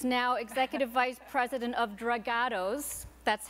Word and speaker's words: Dragados: a jury is now Executive Vice President of dragados that's how I was told that's the proper pronunciation construction and Engineering giant uh best known